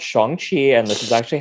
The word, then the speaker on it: Shang-Chi: sorry, it's actually pronounced Shang-Chi. I've heard other people pronounce it like that. I say Chang-Chi, or Shang-Chi, excuse me. It's Shang-Chi. So the A is actually an O.